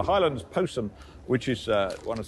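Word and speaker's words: Jyllands-Posten: highlands post which is I think it's pronounced the highlands posum which is uh one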